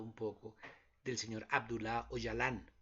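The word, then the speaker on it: Öcalan: poco del señor abdulá hoy alan se escribe ocalán se pronuncia hoy alan hoy alan es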